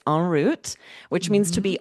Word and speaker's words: en route: En route, but we say en route, right?